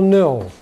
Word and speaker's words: know: Самый популярный глагол еще в этом случае – глагол «know». Обратите внимание, буква «k» перед «n» не читается. «Know» читается «know».